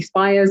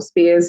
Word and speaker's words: Spiers: So first of all, I'll just introduce myself, Spiers, or Spiers. If you're American or German, it tends to be pronounced as Spiers.